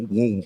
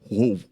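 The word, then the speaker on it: οὐαί: Ay, viene de una palabra en griego que se pronuncia como wow o algo así, bien raro, wow.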